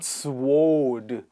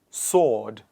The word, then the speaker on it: sword: repeat after me answer sword very commonly mispronounced not swode it is sword I'll just write the